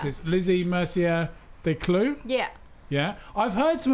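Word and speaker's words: Lizzie Mercier Descloux: So how do you pronounce Yeah. it? Lizzie Mercier de Clou.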